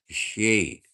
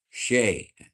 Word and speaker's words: Xi: Xi Jinping is pronounced Shay. Shay.